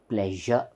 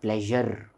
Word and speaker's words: pleasure: should be pronounced as pleasure pleasure and this R should not be actually pronounced it is it is given in Brackets because it's optional we don't have to pronounce R it is not pleasure we don't have to